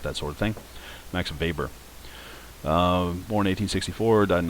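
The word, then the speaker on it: Weber: and it's properly pronounced Vber. He's u central Europe German descent. Uh the W is pronounced as a V if you're ever in circles where people care about that sort of thing.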